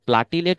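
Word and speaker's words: platelet: হয় লাস্টে কি আমাদের প্লেটলেট ওকে অনেকে এটাকে আমরা প্লাটিলেট উচ্চারণ করি আসলে সঠিক উচ্চারণ হচ্ছে প্লেটলেট ওকে কোন সমস্যা নাই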